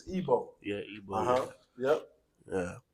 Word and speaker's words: Igbo: I forgot how to pronounce it. No, you got it. It's fine. It's fine, King. But- It's Igbo.